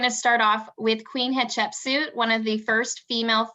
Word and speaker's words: Hatshepsut: Who wants to pronounce her name first? Hatshepsut.